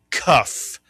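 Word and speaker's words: כף: It is a C sound and the name of the letter is the cuff.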